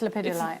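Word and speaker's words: lepidolite: we'll have a look it could be lipid it's lapidalite actually yeah i can never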